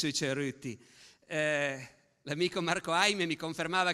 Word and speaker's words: Cerutti: Il titolo è bisogna pronunciarlo proprio alla piemontese perché abbia senso sueruti.